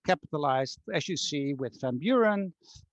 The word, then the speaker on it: Van Buren: as you see with van buren um which would be pronounced from buren the former president or van halen which